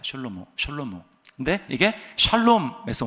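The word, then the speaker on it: שלמה: 솔로몬의 뜻은 그 히브리 발음대로 하면 셜로몬입니다. 셜로모.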